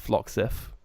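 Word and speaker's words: Floxif: sure how it's pronounced it's FL o xif I think it's pronounced phlox if it has been removed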